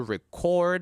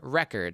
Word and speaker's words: record: If it's a noun, you put the stress on the first syllable. For example, record as a verb and record as a noun.